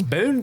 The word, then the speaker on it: Boone: county where I'm from I know Boone County that's how you say it around here is Boone County Boone County uh the